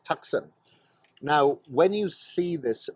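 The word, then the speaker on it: Taktsang: up to Tiger's Nest, which is Taksang. That's how you pronounce it, Taksang.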